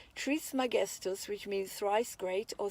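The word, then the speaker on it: Trismegistus: is most commonly called Hermes Tri magest pronounced TR magest which means Thrice great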